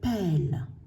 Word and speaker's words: pelle: C'est un E tout simplement parce qu'il y a les deux L, ça se prononce E. Une pelle. Une tresse, E2S, c'est un E tout simple.